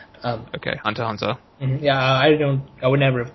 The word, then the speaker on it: Hunter x Hunter: Hunter x Hunter does not deserve that, and by the way, we should not pronounce the X. Okay, Hunter x Hunter.